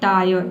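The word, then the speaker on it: tire: यदि किसी वर्ड में IRE एक साथ हो तो IRE को हम क्या पढ़ेंगे, आय और पढ़ेंगे, ठीक है। यहाँ पे भी आधा र को आपको साइलेंट रखना है, केवल आय पढ़ना है। जैसे कि देखिए यहाँ पे है टायर, ठीक है, टी का ट हो जाएगा और IRE का हो जाएगा आय, ये हो जाएगा आपका टायर, ठीक है।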